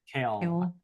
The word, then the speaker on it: Kel: Kale. Kale. Kale, like not quite like the kale that you would eat, but not quite like kale.